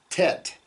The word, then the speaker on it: ט: in tar okay um and the the letter tet and the letter T in English we would pronounce that with a very a hard T where you put your tongue at the back of your teeth tet t but in Hebrew it's the softer uh